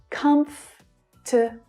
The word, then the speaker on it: comfortable: The correct pronunciation of this word uses only 3 syllables, which means that this vowel is completely silent. Comfortable.